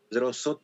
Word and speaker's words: Pedrozo: Bueno, mi correo es Pedroso, todo junto. Pedroso se escribe con O-Z-O al final.